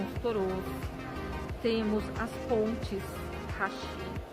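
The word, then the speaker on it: 橋: torôs, temos as pontes, hashi. Quando é uma ponte de pedra, geralmente você vai ouvir falar a pronúncia bashi, porque vai ter outra palavra antes da pedra, né, do significado da ponte.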